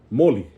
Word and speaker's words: moli: So so this word, we went over this earlier, moli, right? If you notice, I emphasized that first one, right? Moli, because that's the second to the last, because there's only two syllables, right?